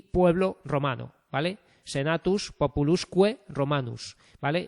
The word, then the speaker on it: Senatus Populusque Romanus: Y la V, esta U que en minúscula se escribe con una V, se pronuncia con la Q, ¿vale? Senatus Populusque Romanus, ¿vale? Esto son vocales largas, ¿vale?